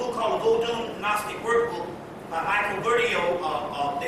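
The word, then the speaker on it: Bertiaux: But anyway, there's a book called the Voodoo Gnostic Workbook by Michael Bertio. Some say Bertiex. Another word is Michael Beltu, which is a French pronunciation.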